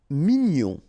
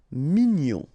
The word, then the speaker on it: mignon: Mignon. Okay. Here in that case, G-N-O-N, gnon. Mignon. Sourd.